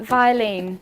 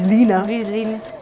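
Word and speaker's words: Vlieseline: flees luna waste shaper we used to call it viselene didn't we yeah we're yeah violin but it sounds vile doesn't it that's not how you say it no it's leaner so when the blues leaner rep came i was just like and i can't say it without saying blues lina um there are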